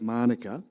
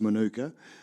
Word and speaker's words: Manuka: There's a suburb in Canberra called, we pronounce it Manuka. It's Manuka.